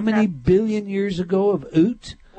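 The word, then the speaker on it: Ute: You've described in Oot, is that how you say it?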